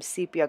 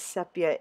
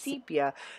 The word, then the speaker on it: sepia: yellow of the vaz so I added some sepia color bursts to give it kind of more of a gold tone and I actually had pronounced as sepia in a prior video and someone did correct